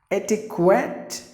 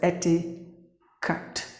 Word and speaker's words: etiquette: is silent so T the Q is the K sound the remaining is ke T ket Ettie etiquette meaning mannerisms like the